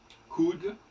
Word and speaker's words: could: Alors, le OU se prononce à la française, disons-le. Même dans you.